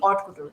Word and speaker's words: haute couture: Again यहाँ पे H जो होता है वो silent होता है. We pronounce it AUTE, haute couture.